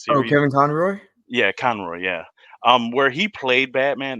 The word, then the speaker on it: Conroy: Yeah, Conroy, yeah.